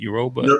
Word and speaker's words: Yoruba: Yoruba. Yoruba Yeah, twin. yeah, the Yoruba twins. And yeah, I think Michael B. Jordan was speaking on the carpet about how I don't know, he got a Yoruba name or some shit like that.